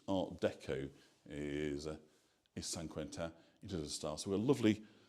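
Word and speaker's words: Saint-Quentin: Hello Casey, I'm joining from Nashville to to join us here in San Quenta. So it's not St. Quentin which might look like it is San Quenta is is the way they would pronounce it here.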